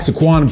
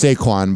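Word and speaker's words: Saquon: Herz and running back Squan Berkeley share a sweet moment with their families think it's saquan but whatever why pronounce things right saquan what are you at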